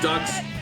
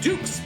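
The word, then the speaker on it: Dux: They're not actually ducks. And it's not pronounced ducks. They're dynamite dukes because their name is Duke.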